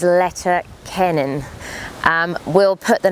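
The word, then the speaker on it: Leitir Ceanainn: Now that's the English pronunciation in Irish. Forgive me if I mispronounce it, but it is Letter Kennan.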